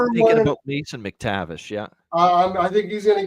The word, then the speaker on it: McTavish: It's Mac with an A for Craig. So it's not. No A in Mason McTavish, by the way. Okay, Mason McTavish.